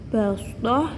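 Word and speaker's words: بسطة: Tulisannya basdah, tetapi bacanya basdah. Meringis basdah. Basdotan, basdoh dibaca basdoh, sehingga bunyinya menjadi wazadakum fil khalqi basdoh.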